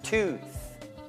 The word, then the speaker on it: tooth: Ok, la lingua non deve uscire non troppo presto, non è tooth. Questa no, è tooth.